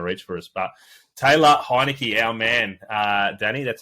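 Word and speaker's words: Heinicke: almost out of reach for us but Taylor heinecke our man uh Danny that's how you say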